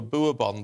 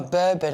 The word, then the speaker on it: bourbon: a very bad thing I get laughed at over boobon biscuits oh bourbon I say bourbon friendship friendship would